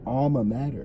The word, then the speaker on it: alma mater: Major? No, alma mater.